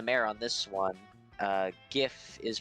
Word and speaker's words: GIF: pronounced memes and GF with a hard G I'm with the May on this one uh GIF is pronounced like GIF